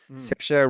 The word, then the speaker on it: Saoirse: Um, so speaking of Irish actors, um, who is more uh, prolific than Miss Cersa Ronin? Certa rhymes with inertia, the woman of the difficult name for many a non-Irish person to say.